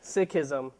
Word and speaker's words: Sikhism: think somebody introduced uh somebody said sism I say sism you know tomato tomato the real pronunciation of it is Sikhism uh but when I